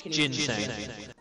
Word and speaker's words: ginseng: It's ginseng. You know, like gin. You know what gin is? Ginseng.